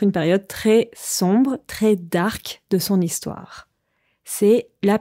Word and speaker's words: dark: En français, quand on parle, on utilise parfois l'adjectif anglais, dark, mais on le prononce différemment, dark.